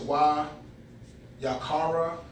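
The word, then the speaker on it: וַיִּקְרָא: So I'll try to pronounce it Wayaqara.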